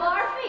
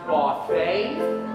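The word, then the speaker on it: Barfée: year after last season's tragic setback Mr William barfy uh it is pronounced bar they is an accent a uh I'm not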